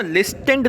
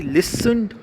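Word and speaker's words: listened: बच्चों इसको ना लिस्टेंड नहीं पढ़ना है, कुछ बच्चे ना इसको लिस्टेंड पढ़ेंगे, लिस्टेंड नहीं, आई लिसन्ड हार्ड, है ना, टी साइलेंट रहता, आई लिसन्ड हार्ड।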